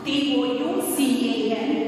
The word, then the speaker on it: toucan: T-O-U-C-A-N, but the pronunciation of this is toucan. As a two vowels are are coming together, the sound of the first vowel only we have to pronounce.